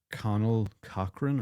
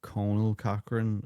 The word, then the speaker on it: Conal Cochran: character is called um Connell Cochran or Conal Cochran depending on where you're from and how you pronounce it.